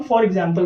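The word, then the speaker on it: e.g.: इसको हम फॉर एग्जाम्पल पढ़ते हैं, ध्यान रखिएगा, ईजी नहीं पढ़ना, फॉर एग्जाम्पल। कहीं भी आपको ईजी लिखा हुआ नजर आए तो आपने पढ़ना है फॉर एग्जाम्पल।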